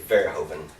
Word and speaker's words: Verhoeven: highly recommend it now do you pronounce it Paul Verhoeven or open I save vert Hovind Holden there you go and that's how you do it yeah not another great